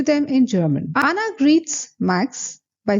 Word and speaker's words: Max: Then Max replies Ich heiße Max. Remember, A is A, so it is not Max as in English, but then Max.